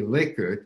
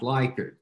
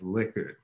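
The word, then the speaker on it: Likert: to know this a few months ago it's pronounced really liquid and not like it but having said that you'll hear me say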